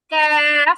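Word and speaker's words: ك: জিহ্বার গোড়া থেকে আরেকটু সামনে ওই অংশটা উপরের তালু বরাবর লাগবে, দেন উচ্চারণ হবে ক্যাফ, ক্যাফ।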